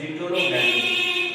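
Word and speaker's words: geitonogamy: रहा है, तो इसको हम लोग कहते हैं जीटोनोगैमी। क्या कहेंगे, जीटोनोगैमी, ठीक है। इसको जीटोनोगैमी कहा जाता है, ये स्पेलिंग याद रखिएगा, GEITO जिटोनोगैमी कहा जाता है।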